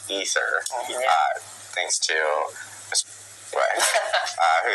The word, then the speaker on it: Aether: And then we learned that canon in Diablo I despite it being spelled AE t h e r it's actually pronounced ether uh thanks to uh